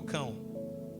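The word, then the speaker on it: Cam: Cão é o cão. Você pode escrever cã, né? C a m, mas a pronúncia é cão.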